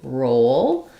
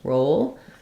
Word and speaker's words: roll: should help you and then for roll we have um the O vowel um so I would write it kind of like this maybe or this row roll so in this one it's O and this one it's O um and so you could